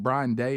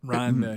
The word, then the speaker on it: Ryan Day: By the way, did you know cuz I, you know, is it Brian Day? Is that how you say his name? Ryan Day.